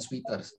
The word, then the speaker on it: sweaters: Bacanya sweaters ya, bukan sweaters. Sweaters. Dengar aja. Sweaters ya, bukan sweater. Sweat. Sweaters. Sweater. Kalau sweet, kalau sweet itu manis. Ya, kalau sweet itu manis. Ya, sweat sweater.